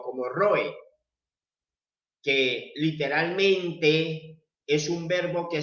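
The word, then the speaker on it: רועה: hebreo pastor se pronuncia nosotros lo entendemos y lo pronunciamos como roe o como roe literalmente es un verbo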